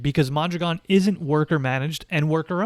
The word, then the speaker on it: Mondragon: yeah well let me correct you about mondragon which is by the way how it's pronounced mondragon has multiple parts some